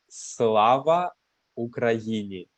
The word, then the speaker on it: Slava Ukraini: So if you wish, you can try to spell it. How do you say this in Ukrainian? So it is Slava Ukraini and Slava Korea.